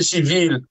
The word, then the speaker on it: civile: La classe politique étant écartée, la société civile étant inexistante, je parle de la société civile indépendante, pas de la société civile du régime. Civile du régime, je l'écris et je le prononce en S-I-V-I-L.